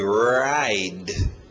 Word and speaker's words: ride: Forte no R, ride.